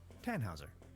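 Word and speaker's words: Tannhäuser: why what's your name tanhauser we'd pronounce it with an umlot German roots yes my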